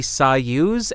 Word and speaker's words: Soyuz: The microphone that we're looking at is the Soyuz SU-023 Bomblet. See? Eh? Eh? I got it right. I pronounced it right.